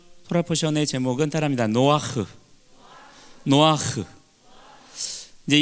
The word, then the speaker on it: 노아흐: 노아크라고 이렇게 했지만 이거를 너무 세게, 키역 받침을 너무 세게 하면 안 돼요. 노아크가 아니고 노아흐. 노아에다가 흐를 할 때 약간 이천장을 긁으면서 흐 발음을 내는 거.